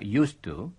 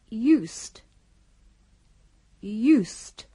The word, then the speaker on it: used to: setelah magret used to Perhatikan dengan baik ucapan used pada used to berbeda dari ucapan bentuk lampau kata kerja use yang diucapkan sebagai berikut us dengan bunyi yang bersuara Sedangkan kata baru itu diucapkan dengan bunyi yang tak bersuara dengarkanlah used used Ucapkanlah sesudah